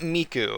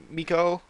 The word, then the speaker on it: Miko: It's not Miku because it's not how you say like Hatsune Miku. It's like Miko.